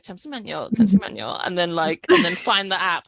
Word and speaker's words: 잠시만요: Was it 잠시만요? 잠시만요.